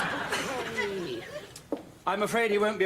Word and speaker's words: Bucket: How do you spell bouquet? B-U-C-K-E-T. What? B-U-C-K-E-T. Oh, Bucket. It's bouquet.